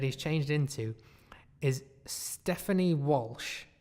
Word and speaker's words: Walsh: that okay w 0 l s CH t Walsh or something I thank you front as a phonetically but no it's just Walsh apparently Stefan